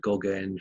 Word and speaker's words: Gogaine: I bought a drug called Gogaine from a head shop, and Gogaine rhymes with cocaine, so you can guess it's a stimulant.